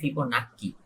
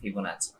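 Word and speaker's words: Fibonacci: আমাদের এখানে যে স্পেলিংটা করা হয়, স্পেলিংটা হচ্ছে ফিবোনাক্কি, ফিবোনাক্কি, ডাবল সিআই, কিন্তু আসলে এটার প্রোনাউন্সিয়েশন হচ্ছে ফিবোনাচি, ফিবোনাচি সিকোয়েন্স।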